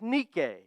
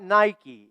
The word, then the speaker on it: Nike: said her name is Nik slide please not Nike even though it is spelled the same way her name is is Nik Nik is the name of the Roman goddess